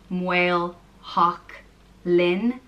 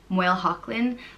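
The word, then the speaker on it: Maoilsheachlainn: of Saint Hocknull, and the way it's pronounced varies. I think it depends on where in Ireland you're from, like with a lot of these names, but the way I'd pronounce it is MaoilSeachlainn. MaoilSeachlainn, but I think a lot of people would pronounce it maybe MaoilSeachlainn or MaoilSeachlainn. There's probably other variants, but you know, something like that.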